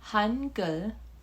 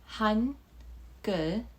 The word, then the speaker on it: Hangul: But through this video, you're going to learn your first step into Korean alphabet, which is called Hangul, Hangul, and that is how you say basically the alphabet in Korean.